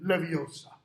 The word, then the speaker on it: Leviosa: that wrong it's got to be when guardian leviosa you got to get that pronunciation on the right syllable ron's just like